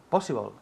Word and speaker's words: possible: Possible. Good, repeat. Possible. Good. Possible. Possible. Énfasis en la primera sílaba.